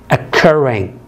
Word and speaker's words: occurring: إذا هنا ما فيش stress، الستريس على المقطع الثاني، فأضاعف حرف ال R هنا فأقول occurring occurring.